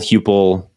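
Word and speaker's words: Heupel: How do you pronounce their coach's name? It's Hupel.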